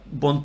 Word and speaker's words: buon: So you got three sounds in buon.